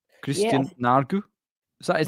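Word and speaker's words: Nørgaard: But we will start with, it's the correct way to say Norgod. Christian Nargu?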